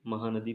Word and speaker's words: Mhow: तो MH महू ऐसे लिखते ना, महू MHOW स्पेलिंग है महू की, ध्यान रखना।